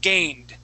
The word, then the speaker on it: gained: Okay, it's not like the Italian T. Okay, neither like the Italian D. Okay, it's like the R sound. D, D. Okay, gained.